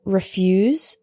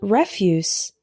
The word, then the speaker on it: refuse: in 1950 Polish Polish next we have refuse and refuse refuse is a verb meaning to say no or to reject something for example he refused to discuss the topic saying it was none of my business refuse is a noun meaning garbage or waste for example did you know that